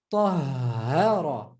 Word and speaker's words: Tahara: You see there, double H. Tahara.